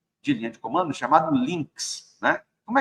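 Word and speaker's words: lynx: você faz um APT instal links é assim que se escreve L ynx se eu não me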